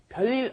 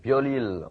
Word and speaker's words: 별일: And I noticed that it's hard for me too, but 별일 is very hard to pronounce. Many people have a tendency to go 별일, but we want to say 별일.